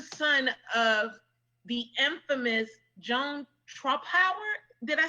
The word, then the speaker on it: Trumpauer: And his mom, what tops everything off is that his mother he's also the son of the infamous Joan Trumpauer.